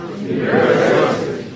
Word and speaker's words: university: U, ver, and the T is a flat T, so it sounds like a D.